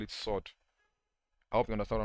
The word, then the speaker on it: surd: This one will be pronounced as 5 sod 8. 5 sod 8.